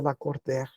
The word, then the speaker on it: Lacordaire: não sabia mas disse L cordar sou eu ó seu nome escreve da cordar pronuncia la corder eu disse como assim